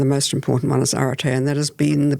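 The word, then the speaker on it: ἀρετή: was at school, so I might mess the pronunciation up, but is Aretē, is it excellence? Aretē, yeah.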